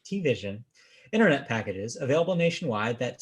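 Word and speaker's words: TVision: T-Vision? Yes, it's like T-Mobile. Yeah, I guess it's like T-Mobile. So T-Vision. Except there's no dash between T and Vision. It's just T-Vision. Right. T-Vision.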